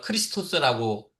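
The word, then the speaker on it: Χριστός: 그다음에 예수라고 하는 호칭은 제가 이미 주라고 하는 말씀 드렸고 그리스도는 헬라오르 크리스토스라고 발음하고요.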